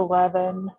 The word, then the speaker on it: Levin: my name is levin and that's your last names uh you know the 11 is i like to say that it's pronounced like 11 but without the e or as an unleavened bread i am originally from